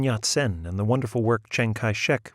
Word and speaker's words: Chiang Kai-shek: Then he made quite a speech about Sun Yat-sen and the wonderful work Chiang Kai-shek, which he pronounced Zhongge-shi, had done, and the traditional friendship between the United States and China.